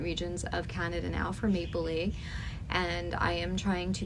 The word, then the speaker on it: Maplelea: every day on the maple Lea site that's spelled um Maple l e a a lot of people say Maple Leah but it is maple Le I heard it from